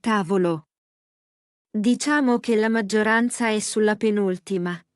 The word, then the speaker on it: tavolo: syllabe (comme casa), mais certains sont différents, comme tavolo. Le mot correct est tà-vo-lo. Disons que la majorité se place sur l'avant-dernière, mais il y a des exceptions ! Ah, je vois. tà-vo-lo.